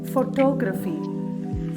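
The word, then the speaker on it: photography: വൈ ഇതെങ്ങനെയാ നമ്മൾ പറയാ ഫോട്ടോഗ്രഫി ഫോട്ടോഗ്രഫി ഫോട്ടോഗ്രഫി stress on the second syllable ഫോട്ടോഗ്രഫി അല്ല ഫോട്ടോഗ്രഫി അടുത്തത്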